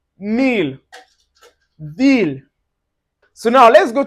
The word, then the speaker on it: miel: There are exceptions to this and an example of this exception, you can see it in words like miel.